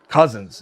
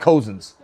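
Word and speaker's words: Cozens: Cousins is how you say it, but I it looks like Kosins.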